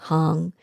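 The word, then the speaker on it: Ham: And then as you're breathing, you're mentally saying hung, and it rhymes with song, hung.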